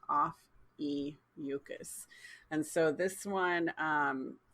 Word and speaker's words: Ophiuchus: sharon talked about uh offices and or no office sorry i keep saying it wrong off e mucus and so this one